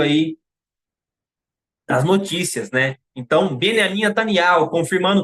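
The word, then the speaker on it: Binyamin: vou pronunciar de novo a mídia fala Benjamim Natani mas não é é beniamin Natani porque no hebraico não existe a pronúncia da letra J né e não é yarro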